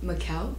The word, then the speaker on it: Mikhail: You know, the gentleman, I know his name is spelled like Micah, but it's actually said to Mikhail? Mikhail. Mikhail. Yeah.